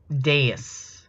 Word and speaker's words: dais: Dais. Oh, okay. Dais. Thank you. Is that YouTube video, the pronunciation?